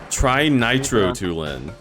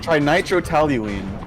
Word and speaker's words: trinitrotoluene: Trinitrotoluene.